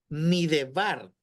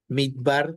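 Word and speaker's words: מִדְבָּר: Por eso esa palabra no suena midebar. ¿Por qué? Porque la E, que es el sheva, es un sheva quiescente, o sea que es un sheva que no se pronuncia.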